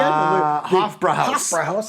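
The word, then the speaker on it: Hofbräuhaus: How do we pronounce that name again? Hofbrauhaus.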